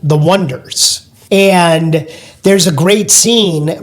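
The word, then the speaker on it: Oneders: for the Wonders and they spell it o n e d e r s and the trouble right away is that not everybody knows how to to pronounce the name and they get announced on stage and on the radio when people are calling them the oners because they're sort of looking at the letters and the words more literally and not catching the play on words and calling them the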